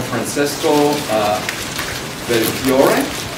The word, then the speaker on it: Francesco Belfiore: And finally, from Francesco Belfiore, did I say it right?